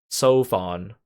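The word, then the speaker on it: Seofon: Sovon? Oh, that's how you say his name. I think that's the first time someone said his name out loud. Sofon. Like sofa.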